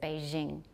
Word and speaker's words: Beijing: So when we say a J, they said Beijing.